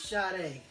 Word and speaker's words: Sade: Folks have been hollering, Sade. Sadie? No, man. It's Sade.